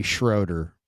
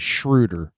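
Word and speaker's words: Schröder: just because you know there's no reason that it shouldn't be Schroeder it should be Schroeder uh but he pronounces it as shrewder so I'm just gonna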